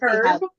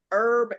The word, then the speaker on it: herb: hand mask oh say herb I did say herb yes I'm sorry did I say that wrong her is a man herb is what's in your mask herb the H is silent you're not Bri lady